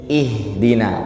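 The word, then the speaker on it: اهدنا: kadang kita keceplosan bacanya bukan ihdina tapi enggak dilebarin coba dilebarin ih Dina pasti jadi ya wajah saya jadi eh Dina ya harusnya ih Dina baik kan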